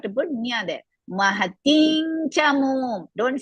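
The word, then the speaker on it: चमूम्: Acharya Mahating Chamum. Acharya Mahading Samum. Chamum. Samum no. Chamum. Samum.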